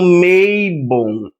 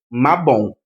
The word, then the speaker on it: Mabon: E a nível de curiosidade, tem muitas pessoas que chamam Meibon. Eu não sou o tipo de pessoa que se incomoda com pronúncia, mas como tem gente que frequentemente vem aqui no meu canal dizer que a pronúncia tá errada, a pronúncia de Mabon é essa mesmo, Mabon.